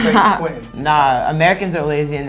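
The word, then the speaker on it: Saint-Quentin: It's Saint Quentin. Nah, Americans are lazy and never try to pronounce shit properly.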